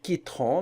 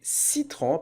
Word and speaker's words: citron: de la voyelle eu alors la lettre c va l'abattre s'il va pas se prononcer que mais il va se prononcer c'est citron on ne va pas dire quitteront mais citron parce que la lettre